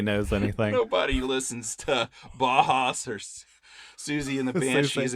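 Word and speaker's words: Bauhaus: Bajas, Bahas. Yeah. I'm sure it's Bahas.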